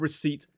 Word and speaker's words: receipt: It's the reason that island has a silent s and receipt has a silent p.